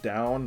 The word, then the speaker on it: Dawn: choso language it's actually if you pronounce it like the word down like looking like down it's it's um it